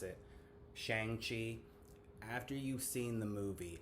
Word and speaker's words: Shang-Chi: And I know a lot of people are going to mispronounce it. Shang-Chi.